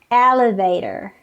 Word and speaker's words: elevator: the first syllable celebrate again people say elevator elevator but it should be pronounced as elevator elevator first syllable this